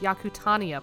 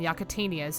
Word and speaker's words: Yakutania: after the fact that it's actually pronounced yakutania Point rather than yakitanias you hear me saying